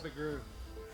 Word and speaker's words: McGrew: It's just a little longer than with two O's. And then there's Well, ooh isn't a long O. It's an entirely different vowel. well, it's like McGrew.